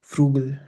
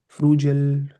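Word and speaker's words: frugal: यूज करोगे, ही इज फ्रूगल, इसका pronunciation क्या होता है, इट्स फ्रू GL गल, फ्रूगल, फ्रूजल नहीं, फ्रूगल, ही इज चीप।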